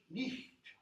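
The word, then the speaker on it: niht: In Old English, every letter is pronounced. Every letter. So, Old English versus Modern English. Modern English night. Old English nicht.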